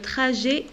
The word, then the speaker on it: trajet: midi by the way le trajet alors que tes jeux la prononce et je prononce pas la lettre t le trajet et es tu es